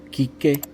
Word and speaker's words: Quique: When you see the Q and the U, you do not pronounce the U. Quique, quíntuples.